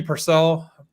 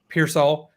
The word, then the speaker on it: Pearsall: uh and I do not know how to pronounce any of these names so this is going to get bad but like Ricky Purcell Pearsall Pearsall Pearsall thank you uh it is kind of a